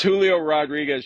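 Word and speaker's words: Julio Rodríguez: Y'all gotta start saying my name right. It's Julio Rodriguez. Y'all gotta roll your R's.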